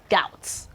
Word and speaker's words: doubt: We equally have doubt, doubt and not doubt, doubt. No, it is doubt, doubt, doubt. Okay, so you can see that the B, we are actually silent while the T is actually pronounced.